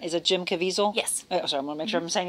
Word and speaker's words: Jim Caviezel: The actor, and I never know how to pronounce it, is it Jim Caviezel?